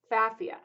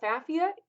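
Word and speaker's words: Pfaffia: So the first one I'm going to talk about is Safia. Now, Safia starts with a P. The P is silent.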